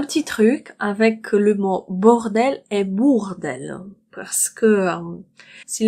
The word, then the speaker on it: bordel: Alors, plein, bord et bourg. Cette syllabe, la première syllabe, c'est bord. Bord. Le deuxième mot commence par bourg. Pourquoi bourg? Parce que au U, en français, ça fait ou, tout simplement. On prononce bou. Bourg, d'elle. La seule différence entre ces deux mots, c'est qu'ici vous avez bord et ici bourg. Ça change tout.